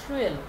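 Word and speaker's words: Swirl: থেকে ডিস্টর এইটা কিন্তু ট্রিয়েল ট্রিয়েল থাকলে উচ্চারণ হবে সুয়েল ঠিক আছে সুয়েল উচ্চারণটা হবে সুয়েল ইফেক্ট সুয়েল ইফেক্টটা গিয়ে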